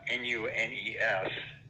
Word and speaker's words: Nunes: the name of warren nunez uh n-u-n-e-s he pronounced it nunes back then and he